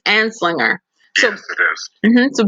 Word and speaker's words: Anslinger: How do you pronounce his name again? I say it's Anslinger. It's Anslinger.